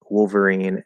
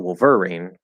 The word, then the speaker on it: Wolverine: So what syllable do you stress in Wolverine and Jubilee? The first or the last? Good question. So for me, Wolverine. If you say Wolverine, it sounds just fine as well.